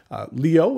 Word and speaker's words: LIOE: is a company based out of Seattle Washington Leo is spelled l-i-o-e it is run by the husband